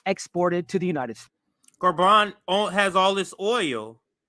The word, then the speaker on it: Gabon: of what's happening the cool that's happening in garban and that's g-a-b-o-n it's it's pronounced French in a French way so garban is the name of the country let's listen